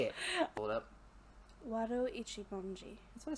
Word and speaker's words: Wado Ichimonji: Wado Ichimonji.